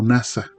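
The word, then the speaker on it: נָסָה: raíz primaria probar Ajá en el hebreo lo podemos este lo podemos pronunciar como NASA por implicación también significa intentar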